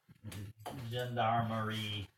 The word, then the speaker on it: gendarmerie: experts in the Paris gendarmerie. I'm not pronouncing it properly.